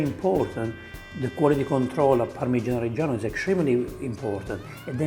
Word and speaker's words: Parmigiano Reggiano: Right here is a Parmigiano Reggiano.